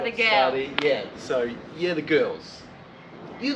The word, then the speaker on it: Skadi: So Scotty is spelled S-K-A-D-I. I'm not sure if that's a D actually, it's like a Scandinavian letter.